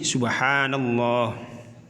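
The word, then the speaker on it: سبحان الله: Lafadz subhanallah terdiri dari beberapa huruf, yaitu sin, ba, ha, alif, nun, kemudian alif, lam lagi, dan kemudian yang terakhir adalah ha. Sehingga ketika dibaca menjadi subhanallah.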